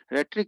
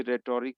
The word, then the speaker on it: rhetoric: जो कला होती है उसे रेटोरिक, रेटोरिक नहीं कहते, यहाँ इसका उच्चारण रेट्रिक है, उसे रेट्रिक बोला जाता है।